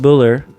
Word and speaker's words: Buller: Ed Boer all the time Ed buler Ed Buller buler berer I want to say that they would say Buller Ed Buller it's spelled it's spelled ber is it ber with